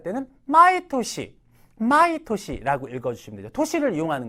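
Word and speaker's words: 年: 이런 거 있잖아요 그죠 신냉이 훈으로 읽을 때는 도시라 그래요 토시 뭔가 이렇게 나이와 관련 있고 그죠 토시 하게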